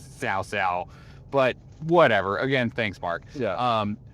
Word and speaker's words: Cao Cao: the worst in that it's not Cao Cao. It It is Ts'ao Ts'ao.